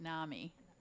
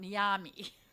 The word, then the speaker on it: NAMI: I didn't say it right. NAMI. It kind of came out NIAMI.